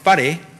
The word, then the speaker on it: whare: Listening to speakers of many dialects, the initial sound in a word like whare is not ever really heard as a hard F, but it's also not heard as a silent letter either.